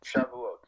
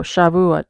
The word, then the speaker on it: Shavuot: Here, let's see how we pronounce it. Hold on. Oh, Shavuot. Oh, Shavuot.